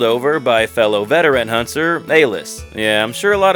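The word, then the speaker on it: Alys: Chaz, getting called over by fellow veteran hunter, Alice. Yeah, I'm sure a lot of people pronounce it Alice, but this is just what I decided to roll with.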